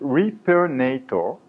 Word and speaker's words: Repairnator: his name it's it's hard to read and pronounce I know it's on purpose it's Reaper NATO Reaper NATO it's a direct reference to Hollywood movie Terminator and the Terminator is very